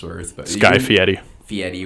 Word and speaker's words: Fieri: Fieri, whatever the hell. That's actually how you pronounce his last name.